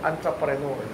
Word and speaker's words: entrepreneur: Ang tawag dito, entrepreneur. Ang spelling, E. Pero ang pronunciation, A. Entrepreneur.